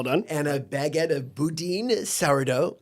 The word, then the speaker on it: Boudin: and a baguette of Boudin souro okay pronounced Budin I and a a